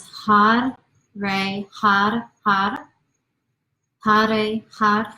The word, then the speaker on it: Har: So the idea is you want to feel almost like your tongue is tapping the roof of your mouth. I'm not asking you to really roll your R's, but you're giving a nice little tap. So it's almost like you're saying Had, Had, Had, okay?